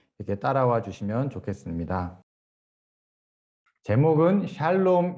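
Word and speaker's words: שלום: 그 히브리어는 큰 글자로 써 있는 게 자음이고요. 작은 글씨로 아래쪽에 써 있는 거 또는 그 왼쪽에 보면 점 하나 찍혀 있는 저런 게 이제 모음입니다. 그래서 저걸 이제 샬롬이라고 읽고요.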